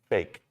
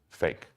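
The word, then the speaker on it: PHEIC: world health organization declared it's called a p-h-e-i-c and in quotes they say pronounced fake at this point it's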